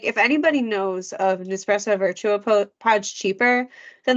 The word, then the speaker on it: Virtuo: And what's crazy is with the Nespresso, especially like we have the Nespresso like it's called pronounced Virtuo, but the pods like they only like they